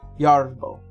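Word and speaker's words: Jardable: It's spelled with a J instead of a Y. Yardable.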